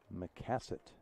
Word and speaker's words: Macasay: McCassett is how you pronounce it.